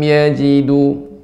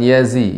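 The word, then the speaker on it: يَجِدُوا: Falam yajidu, yaji jangan yazi ya, yaji.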